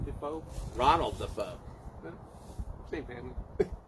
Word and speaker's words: Defoe: looking oh cbd yeah how do you pronounce d-e-f-e-o dafoe yes is it william defoe ronald the foe family